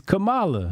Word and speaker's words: Kamala: one is it Kamala Indian people say Kam KLA kamla okay ask Google man hit the Google Thum don't they have a Google pronation hold on let me it's Camala yeah protocol got it